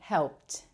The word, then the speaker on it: helped: So notice that I'm not saying helped or helped. I'm saying helped. There's a t sound at the end.